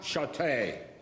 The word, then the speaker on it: Chaté: Somehow when I said Chaté, people heard, so they automatically became, my name was.